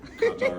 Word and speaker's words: Qatar: Now this is the guy who gave President Trump permission to pronounce KAT-AR or KUH-TAR however he wants.